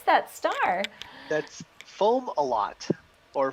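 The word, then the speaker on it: Fomalhaut: did i did we did how do you pronounce that star that's foam a lot or foam aloe is the secondary pronunciation omelette and fomolo perfect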